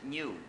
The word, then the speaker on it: GNU: wouldn't get mad in Spanish I've decided it's best to pronounce it new but thank you guys in Spanish that won't cause any confusion and that's how the name of that animal was actually pronounced in Spanish thank you yesterday Mr Murdoch